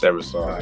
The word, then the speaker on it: Eversole: I think it's pronounced Eversole, right? It's Eversole.